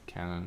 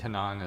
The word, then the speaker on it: Kanon: Yeah, I guess you could pronounce it either way, Canon or Kanon. Yeah. I think it's with a K, right? That's just Yeah. the K-N-O-N. Japanese pronunciation of Yeah. the C word. I think Kanon is probably what they call it.